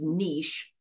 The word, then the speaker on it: niche: the reading is this word Niche so it's pronounced Niche and it is the ecological role that an